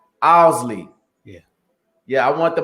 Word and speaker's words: Owsley: it the right way it's pronounced owlsley owlsley yeah yeah i want